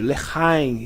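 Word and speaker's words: לחיים: Saúde, leheim. Então, se pronuncia assim.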